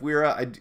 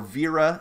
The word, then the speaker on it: Wera: I am a huge fan of Wera, or Vera. If you pronounce it properly, I've been corrected before.